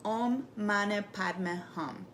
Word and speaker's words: Om Mani Padme Hum: As you're flicking the water, repeat what is called the 6 true words, pronounced Om Mani Padme Hum, or another affirmation mantra or prayer of your choosing.